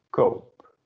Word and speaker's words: koop: So we need to add an extra O to make the sound the same. Become ik kop, but ik koop.